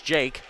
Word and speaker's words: Jeek: Spelled as Jeek, but pronounced as Jake.